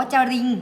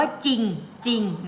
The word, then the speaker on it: จริง: มัน จริง จริง จอ แต่ เรา ไม่ อ่าน ว่า จะ ลิง จะ Ring เรา อ่าน ว่า จริง ๆ นะ คะ อ่ะ คำ